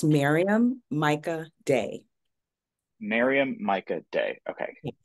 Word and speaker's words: Maryam Myika Day: How do I say, okay, so it's Miriam Myika Day, is that correct? It is not correct. It is pronounced, it's okay. It's pronounced Maryam Myika Day.